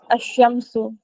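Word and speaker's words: الشمس: नून इनसे शुरू होगा तो उसके सिनेरियो में डेफिनेट आर्टिकल का लाम जो है वो हम स्किप करेंगे यानी कि ओमिट करेंगे प्रोनाउंसिएशन में और डायरेक्टली अलीिफ के साथ पहला लेटर जो भी होगा उस वर्ड का उसे प्रोनाउंस करेंगे ओके लेट जस्ट रीड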